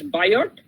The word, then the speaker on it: Biot: via server law okay bio actually it is biot spelling is biot server but it is actually pronounced as bio server law okay now this